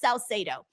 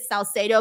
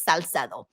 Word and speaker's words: Salcedo: My last name is pronounced Salcedo. That's like the English pronunciation of it, Salcedo. But if you want to say it in Spanish, it's Salcedo. So I usually pronounce it the English way just because it's easier for people.